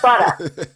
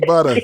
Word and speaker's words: Buttah: um c-h-i-k-i-b-u-t-t-a-h you know it's like butter but you know from the east coast so you gotta say it like brooklyn style you know butter butter there you go uh